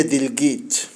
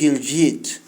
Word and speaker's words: دلوقتي: يعني مثلا واحد عملية دلجيت، عملية جلجيت، عملية دلوقت، عملية دلوك، عملية دلوكيت. اهي كلمة ليها كذا نطق. كلمة دلوقتي دي تتقال عادي، دلجيت دلجيت جلجيت، دلوكيت دلوقت، دلوك.